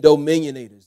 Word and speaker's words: dominionators: those preachers do uh no i mean dominionators not dominators but dominionators and what i see